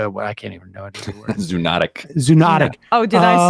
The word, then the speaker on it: zoonotic: Zoonotic.